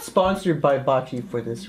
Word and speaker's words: Baci: Well, Baci is like the sport.